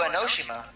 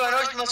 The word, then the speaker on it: Enoshima: Junko Enoshima. Nick. Gosh That dang doesn't it. scare me at all. I mean, Junko Enoshima's already dead. It's Enoshima. Pretty sure it's Enoshima.